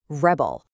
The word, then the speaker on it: rebel: As a noun, the stress is on the first syllable, rebel.